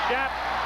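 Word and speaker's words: Shoup: Brad Schapp, number 40, is called his name S-H-O-U-P and pronounces it Schapp, picks it off.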